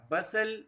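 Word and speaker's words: bustle: पैदा कर रहा था बसल बसल ये टी साइलेंट रहेगा बसल का मतलब होता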